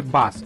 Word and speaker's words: BaaS: आहे आता एमजी ने सेल्स वाढवण्यासाठी भारतीय मार्केटमध्ये बास हा प्रोग्राम सादर केला असल्याने सर्व स्तरातनं या प्रोग्रामला वेलकम करण्यात येत आहे आता कस्टमर वेलकम करतायेत का नाही हे थोड्या दिवसातच तुम्हाला कळेलच आता हा बास प्रोग्राम काय आहे हे मी तुम्हाला मराठीतनं एकदम